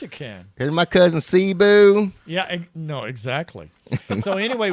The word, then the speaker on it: Cebu: Cebu.